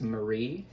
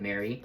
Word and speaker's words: Mary: Um, Frankenstein by I'm pretty sure it's pronounced Marie instead of Mary. Marie, Shall we? I could be wrong. It sounds better that way.